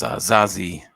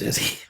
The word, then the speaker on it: Zazie: Is these I think I got his name wrong here. Because Zazie. My bad. I thought it was Izzy.